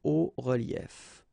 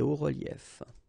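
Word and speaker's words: hauts-reliefs: because S and S, but then we don't pronounce them here. Des hauts reliefs. Okay, un haut relief, des hauts reliefs.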